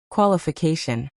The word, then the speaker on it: qualification: The stress is on the fourth syllable, so make sure you nail it to sound natural.